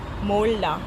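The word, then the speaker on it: 몰라: अब इसमें जो है मो, अब ये दोबारा दोनों ये कॉन्सोनेंट एक ही रिपीट हो रहे हैं 2 बार, तो ल की साउंड आएगी, ये आएगी मो ला, मोल्ला, मोल्ला। मोल्ला मतलब आई डोंट नो,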